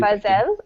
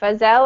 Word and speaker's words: Fazel: I know it's difficult you can call me fazel it's easy for you felle okay fazel I can handle I can do that